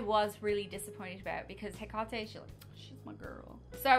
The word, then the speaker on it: Hecate: It's pronounced Hecate, by the way. Not in the show. I don't give a fuck. They're wrong. They're wrong. Saying. That's not how you pronounce it.